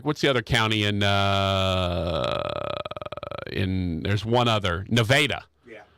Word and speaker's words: Nevada: So there's actually 3 ways to pronounce that word. In Arkansas, they pronounce it Nevada. In the actual state, they pronounce it Nevada. And by the way, they will get mad at you if you call it Nevada and not Nevada.